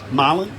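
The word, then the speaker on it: Marlion: things first his name's marlon that's spelt m-a-r-l-i-o-n and i asked how you pronounce it they said well his nickname's fish so it's pronounced okay it's pronounced like the fish so um incredible story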